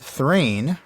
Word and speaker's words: Thrain: Olson doesn't consider, and that Thrain, rhyming with train, is the most popular pronunciation.